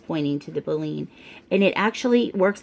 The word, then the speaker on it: baleen: have Bellinis here it tells you how to pronounce it baleen catches the tiny sea animals and plants and